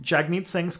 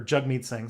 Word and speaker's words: Jagmeet Singh: country um and during jagmeet singh's campaign or jug mead saying sorry i've been pronouncing his name wrong he's a social democrat